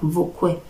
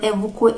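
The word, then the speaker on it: ebukwe: The e is only used as an article, but you can say evukwe or vukwe. Vukwe or evukwe is written with a B and pronounced with a V.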